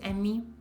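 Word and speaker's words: EMMI: In Italian it's Emmy. E-M-M-I.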